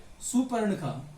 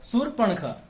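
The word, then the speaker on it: शूर्पणखा: अब यहां पर देखिए सबसे जो मेन पॉइंट यहां पर सुपर्णखा और हां अगर तय इसका उच्चारण करते हैं तो इसका उच्चारण हम कुछ इस प्रकार करते हैं एक सुपर निकाला जबकि पड़ता नहीं होता है क्या होता है सूर्पनखा तो इसको ध्यान रखेंगे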